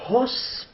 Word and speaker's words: hausse: La phrase suivante, on a elle ne hausse pas les épaules. Alors maintenant, on entend la lettre H. C'est une lettre aspirée.